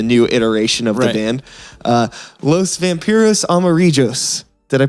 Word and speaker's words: Los Vampiros Amarillos: Los Vampiros Amarillos. Did I pronounce that right?